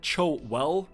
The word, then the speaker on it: Chilwell: And I'm also going to pronounce Ben Chilwell, because apparently I was saying Ben Shaw or something in chat, but I think it's just because I roll the Chilwell.